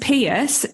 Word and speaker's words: Peirse: And can I also say thank you so much for pronouncing my surname correctly, because it's pronounced Peirse just as you did it, but it's spelled really weird.